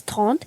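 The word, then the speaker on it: trente: basically read it now 30 we pronounce it as taunt t r e n t e now 31 we pronounce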